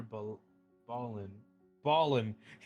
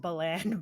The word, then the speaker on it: Balin: out seek out Elder B Ballin Elder be Ballin sorry I I believe it's pronounced Balan but yeah oh absolutely it is it's Balin Elder Balin in the Lost Village